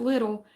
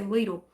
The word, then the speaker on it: Lidl: Now, I know some people pronounce it Little, but I want to tell you why I could say Lidl.